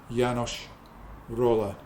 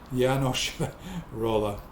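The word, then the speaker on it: János Rolla: of Budapest and it's yanosh roller yeah s is pronounced sh yanos sorry yanos roller uh yeah so this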